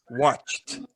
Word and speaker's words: watched: Com som de T, né? Isso. Watched. Pronuncia como se fosse um T no final.